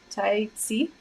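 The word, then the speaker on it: Taixi: Tai Chi. It's not she, it's si. Like the corners of your mouth spread out, spread your lips out, and you press behind your lower teeth.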